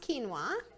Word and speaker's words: quinoa: It's spelled quinoa, but it's pronounced quinoa.